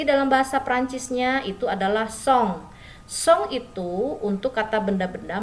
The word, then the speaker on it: son: Oke, song ya, dibaca song, sesong butong ya.